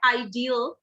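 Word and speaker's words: ideal: आइडल, आइडल का ठीक है, ये होता है आइडियल, तो थोड़ा सा चेंज हो जाता है EAL की वजह से।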